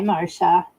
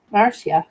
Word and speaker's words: Marcia: She says pronounced like Marcia. I told you, didn't I? Did I not tell you? Hi, Marcia.